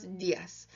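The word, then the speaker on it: días: just go but buenos dias I'm you have an accent so you'll see on the Dia's here you've got the accent on the eye and the accent in Spanish indicates the emphasis so you want to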